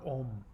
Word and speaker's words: Om: sound affixed to them many people see this ng sound written as M in English as in the well-known mantra sound ohm but in actuality this M sound is pronounced ng the back of the tongue is placed on the roof of the mouth as the mantra is chanted resulting in a vibration